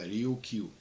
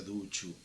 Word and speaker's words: Ryukyu: En esos momentos la identificación era como Ryukyu, que en kanji y en japonés se escribe igual que en chino y se pronuncia Ryukyu, ¿sí?